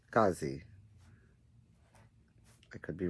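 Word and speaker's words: Skadi: her name is pronounced scazi like the these the d sounds like a z so it's s k a d i but it's pronounced scazi i could be wrong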